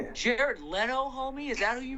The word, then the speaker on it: Leno: Jay Lena. How do you say his name? Jay Leno.